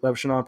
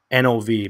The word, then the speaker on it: Levshunov: Steely, if we were to take Levshinov, probably butchered his name. I believe that's how you spell it. Let me double check. Levshunov. So it's Levshunov, but close enough, right?